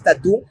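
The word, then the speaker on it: tattoo: Entonces, yo hablaba esto con una colega de inglés, de cómo, claro, si bien la pronunciación en inglés es tatú, pero la escritura en inglés ya no es tatú, tatú, Ajá.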